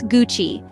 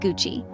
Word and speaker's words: Gucci: Gucci bag or belt remember it's Gucci not Gucci now you can sound